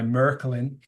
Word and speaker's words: Märklin: uh 125 years old it was introduced by merklin that's the K correct pronunciation I speak German um merklin also invented